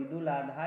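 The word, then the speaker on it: عيد الأضحى: ईद उल अजहा या ईद उल जुहा ऐसे करके उसका प्रोनाउंसिएशन है, ईद उल अजहा बोलते हैं।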